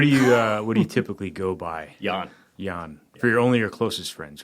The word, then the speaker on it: Jan: I'm not going to say Jan, spell J-A-N, pronounced like a Y.